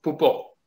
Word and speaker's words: Poupeau: Bueno, mis apellidos son, bien pronunciados sería Pupo, porque uno es alemán y el otro es francés.